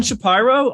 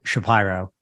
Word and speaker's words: Shapiro: everybody their lives unusual it's a it's an unusual pronunciation uh or pronunciation of that name and uh people assume it's because I'm super elitist and douchey I am douchey but I am not elitist it is a is a white trash Philadelphia pronunciation or pronunciation of Shapiro or Shapiro all right well we're